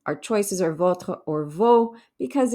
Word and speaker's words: vos: So we have vos sœurs, your sisters. Now remember, the S's don't get pronounced on vos and nos unless they're followed by a vowel.